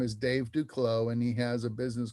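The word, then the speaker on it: Duclos: his name is dave duclow and he has a business called duklow lenses d-u-c-l-o-s do close some people call it due close he pronounces it duclo and he is a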